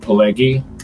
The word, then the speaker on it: Pileggi: I can barely pronounce Kallsen correctly. It's Pileggi, right? Pileggi.